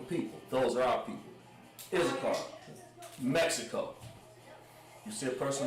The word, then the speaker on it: Issachar: Yashakar.